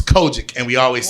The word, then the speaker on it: COGIC: I forget the smart person word for it, but it's COGIC, which is Kojic.